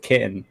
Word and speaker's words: chitin: its leg is solid kitten, chitin, however you pronounce that. Give me So, the leg. I think it's chitin. chitin, Kitten. yeah. Like kitten.